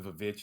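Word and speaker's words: VVitch: I so the reason we call it the Vavitch is because on the theatrical release poster and on some of the other promotional materials, the W in witch is spelled with two V's.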